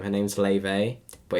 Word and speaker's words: Laufey: Her name's Laufey, but it's spelled Laufey.